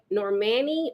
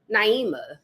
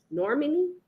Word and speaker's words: Normani: I thought I knew how to say her name before, but I don't know why I always wanted to call her Naima, but I know that's not her name.